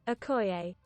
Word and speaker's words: Okoye: That's the American pronunciation. Oh, the British pronunciation. Okoye.